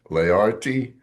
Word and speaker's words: Leardi: Today, I am so pleased to have uh, Piero David Learti, and if I mispronounced it, That please, was perfect, Michael.